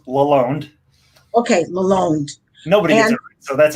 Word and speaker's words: Lalonde: and that is lalande did i pronounce your last name correctly close it's it's pronounced laloned okay malone nobody so